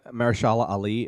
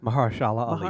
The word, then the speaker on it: Mahershala Ali: And then we have Mahershala Ali in Moonlight, and I think he's amazing in that part.